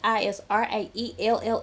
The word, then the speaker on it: Israelle: And I know when people are talking about her, usually they pronounce it like Israel.